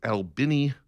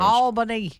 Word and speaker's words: Albany: Anyway, uh this is a weird story out of Albini, Georgia. That is the correct pronunciation in case you're wondering.